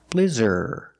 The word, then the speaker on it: blizzard: a big blizzard pronunciation use the short I the sound like this is blizz blizzard blizzard use the sound ER like Burger blizzard this is a blizzard